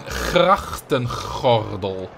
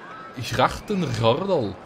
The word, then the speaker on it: grachtengordel: Please now try to pronounce grachtengordel. That doesn't really work. I mean, it sounds Flemish. Yeah, it sounds Belgian. Grachtengordel. it's kind of like the English way with the English G.